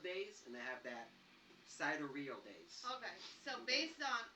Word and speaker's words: sidereal: And then what's pronounced sidereal.